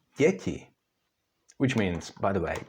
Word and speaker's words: děti: They are not pronounced d and t, but d and ť, so it's děti, which means, by the way, children.